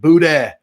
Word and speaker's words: boudin: People in Louisiana, and if you're in Louisiana here, if you don't know how to say the ends on the end of words, that doesn't mean that we said it wrong.